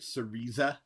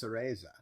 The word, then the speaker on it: Cereza: Collection and Minecraft Legends you pronounced it sarisa you just saw the trailer you know it's pronounced cereza whatever okay so the